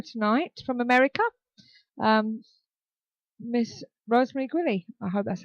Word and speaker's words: Guiley: Can you pronounce it for us, please? It's Guiley.